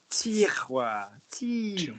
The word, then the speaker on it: tiroir: So say, give me the T. Send it forward. T. That's it. Now give me the roi. Send it forward. Wa. That's it. That's it. So now don't whisper. Say tiroir, drawer, tiroir. Tiwa. That's it. In one slide, not two separate sounds.